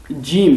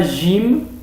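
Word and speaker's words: جيم: en arabe littéraire donc il faut et le prononcé comme jim c'est pas gym il ya certains jouent aussi dans des certains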